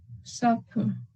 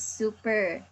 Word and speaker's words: supper: Supper. Supper. So earlier you said super. So it should be supper.